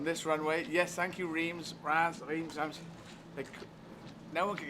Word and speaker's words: Reims: No one could get their heads around it, but I knew it was pronounced a different way. You have to imagine it's spelled R-A-N-C-E. That's how it sounds.